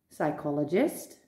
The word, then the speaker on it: psychologist: Now, you may wonder why on earth would they put a silent P when we don't pronounce it at all? There's a very clear reason for this. Because they are Greek, and in Greek, the P is pronounced.